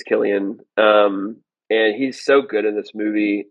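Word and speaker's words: Cillian: I just I never say his name because I don't know how to pronounce it. But I I think you're right. I think it's Killian.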